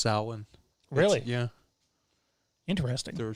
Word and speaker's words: Samhain: looked past bud's inner oh samhain it's actually pronounced wrong it's actually pronounced salon really yeah interesting they were saying it wrong